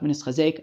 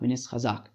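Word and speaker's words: וְנִתְחַזֵּק: It's not chazak v'nischazek. I didn't pronounce that wrong. It's chazak v'nischazak. Anyways, so this is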